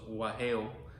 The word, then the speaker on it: guajeo: The original name in Cuba was guajeo, for what the piano does, right? And that's spelled G-U-A-J-E-O.